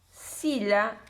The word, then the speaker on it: Scyla: una editorial de Barcelona, que se llama Sila Editores. Acá figura Sila Editores, se escribe SCYLA.